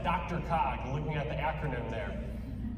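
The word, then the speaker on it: DRCOG: council of governments and they typically pronounce that dr cog looking at the acronym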